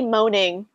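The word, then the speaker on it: Moning: by Karen Marie Monning its Monning right so you see no last name I don't know it's like I don't want to say moaning like like you know I don't want to say that always so I'm gonna say Monning but um it's a it's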